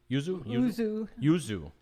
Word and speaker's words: yuzu: How do you pronounce it? Yuzu. That's pretty cool. Yuzu citrus fruit jellies.